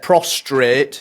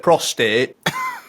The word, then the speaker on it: prostate: heard all specific Pacific people say prostrate instead of prostate talking I'm not seeing